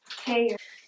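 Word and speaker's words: tare: Pronounce that tear? Tear? Mm-hmm. Tear? Mm-hmm. Tear.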